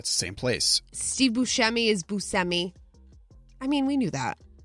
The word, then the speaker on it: Buscemi: that's that's the same place Steve Buscemi is busemi I mean we knew that Charlize Theron they're